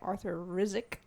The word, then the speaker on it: Arthur Rizk: did it was also known as produced by Arthur Rizk is how you say his name he's a